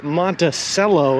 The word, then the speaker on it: Monticello: We're walking our way to Monticello, as the people in here say it's pronounced. Wrong.